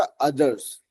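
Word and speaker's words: others: तो ध्यान रखना है कि उसका उच्चारण होगा अदर्स, ठीक है।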